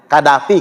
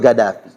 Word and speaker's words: Gaddafi: Karena mereka itu huruf Qaf dibacanya G kalau mereka itu. Logatnya Gaddafi kalau kita nyebutnya kan.